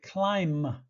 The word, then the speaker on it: climb: wait climb to climb notice that this word ends in a b but we don't pronounce it we don't say B at the end we say climb climb climb climb to